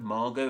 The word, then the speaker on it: Margot: actual written form of that word the word Margo and many other French words would set in